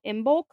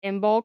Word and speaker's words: Imbolc: The next one we're going to talk about is called Imbulk. I am B O LC. Imbulk.